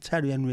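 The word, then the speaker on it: Thierry Henry: mad about tiar enry it's not tiar hry it's Terry Henry it's not Terry Henry it's tar hry it's name can't call him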